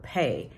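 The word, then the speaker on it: Pey: so the aiding is the word pay p-e-y you say it like payday pay but it's spelled p-e-y in Hebrew and it means to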